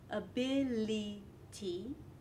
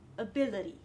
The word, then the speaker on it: ability: Not ability, but ability. So, if you're able to